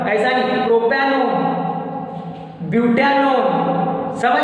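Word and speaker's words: propanone: है ONE से, और उसको प्रोनाउंस करते हैं इस ONE को ओन, वन नहीं ओन। इसीलिए जो ये हमने बनाया स्ट्रक्चर 3 कार्बन होने की वजह से प्रोपैनोन, पढ़ेंगे कैसे उसको? प्रोपैनोन, नॉट प्रोपेन 1, ऐसा नहीं, प्रोपैनोन, ब्यूटानोन।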